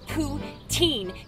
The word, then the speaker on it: poutine: the couch I'm learning by the way it's poutine you Goosebumps Simple Plan loving Peg with arm Skinner than Celine Dion don't stop apologizing oh my God so anyway so she called it poutine which is it I'm so confused now oh